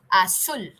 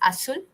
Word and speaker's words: azul: Blue is azul. The sky is blue. Azul. Sky is azul. Okay. The Z in Spanish is also, it's pronounced as sir many times, right?